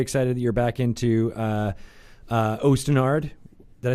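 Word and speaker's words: Osten Ard: fantasy, I'm very excited that you're back into Ostenard. Did I say it right? Yes, you did. Okay, Ostenard.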